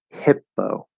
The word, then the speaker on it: hippo: it go very lightly hippo spelled with two p's it's just one p sound there's no pause there's no stop there's no anything it's just a p it's a soft p at the start of an unstressed syllable hippo hippo hippo that's it just a regular soft p improvement so this is